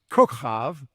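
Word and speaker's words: Kokob: Abraham 3:13 defines kav which is the correct Hebrew pronunciation as star and kohabim as stars or all the great lights which were in the firmament of heaven.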